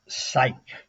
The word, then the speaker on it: Cyc: use common sense now it's spelled cyc which is supposed to stand for encyclopedia it's pronounced psych Sy y c ke